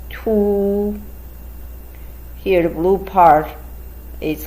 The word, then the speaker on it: 凸: Pronounced in Chinese is 凸.